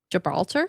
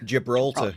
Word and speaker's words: Gibraltar: Gibralar. Gibraltar.